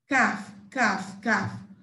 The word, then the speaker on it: calf: golf calf okay so here is just cath cafe not the letter l there is silence so it's cafe silent l right then we have